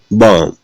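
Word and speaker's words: bomb: इसमें देखिएगा एम के बाद क्या है, बी है, तो क्या बोलते हैं, बॉम्ब, तो बे का उच्चारण नहीं करते।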